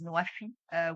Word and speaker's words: NWFE: Egypt's country platform for the Nexus of Water, Food and Energy, pronounced in Arabic as NWFE, which means fulfilling pledges, is a platform which brings together different stakeholders.